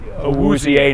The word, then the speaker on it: Awuzie: Awuzie, number four.